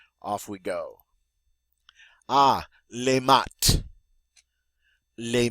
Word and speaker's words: maths: Ah, les maths. Les maths. Notice that TH is pronounced like a T.